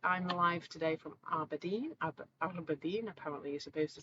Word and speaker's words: Aberdeen: Aberdeen, apparently you're supposed to say it like that, in the northeast of Scotland, right on the coast.